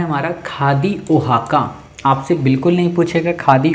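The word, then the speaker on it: Oaxaca: हाँ ये देखो ओहाना है ये, तो ओहाका सिटी, अरे भाई ओहाका, ये देखो स्पेलिंग ही इसकी एक्स साइलेंट किए हुए है, ठीक है।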